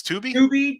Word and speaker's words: Tubi: I call it Tubby. It's Tubi. Tubby. What is it? Is it pronounced Tubby? It's not Tubby Tubi.